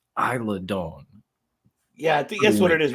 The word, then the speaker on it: Isla Dawn: three different names I'm I'm pretty sure it's Isla Dawn yeah that's what it is okay yeah because I don't know how to pronounce it I'm pretty sure it's Island tomato tomato Don wins there we go